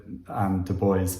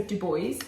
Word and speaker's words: Du Bois: pronouncing it Du Bois, but then I was like, well, if you